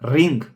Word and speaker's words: Ring: Not r ring, but ring. Ring.